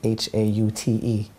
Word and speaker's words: haute: That's actually H-A-U-T-E, pronounced haute.